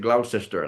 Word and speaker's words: Gloucester: They pronounce it Glausester.